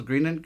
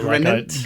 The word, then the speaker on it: Greenant: I did Wangi Falls and Greenant Falls or Greenant Creek. Greenant, or if you pronounce it Grenant? like I did for ages and ages, Grenant, because in the name, they don't separate out green and ant.